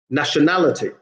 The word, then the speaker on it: nationality: that on the screen nationality yeah na is the third to last syllable in this case society again third to